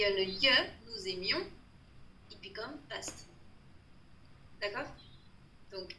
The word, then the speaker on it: aimions: Nous aimions, ceci, il y a le ye, nous aimions, it become past.